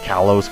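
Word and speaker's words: Kalos: to be called Callos k a l oos so pronounce that however you will I'm going to pronounce it Callos cuz that's the way it just looks right now and other than that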